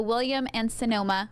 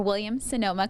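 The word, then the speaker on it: Williams-Sonoma: we are at the William and Sonoma or William Sonoma call center I keep on saying it wrong it's William son there's no an in the middle but this is one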